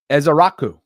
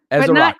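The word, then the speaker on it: Ezeiruaku: And Donavan, his last name is Ezearuku. Ezearuku. E. It's not E cuz Jason was pronouncing that E.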